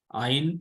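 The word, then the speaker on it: עין: also a silent letter Ein is also a silent letter and it gives uh actually reduce no sound because it is a silent letter like Olive we saw that it it is also silent letter so iron is also a silent letter it gives uh no sound foreign is reverse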